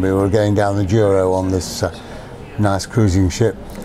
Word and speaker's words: Douro: Michael, the reason I wanted to interview you in particular is because I saw your film Down the Douro. Is that how I'm pronouncing it? Down the Douro, yes.